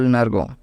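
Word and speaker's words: negro: Let's go with color number 2, that is black, and black is called nergo. Okay, you can pronounce it as NER and GO, which becomes nergo.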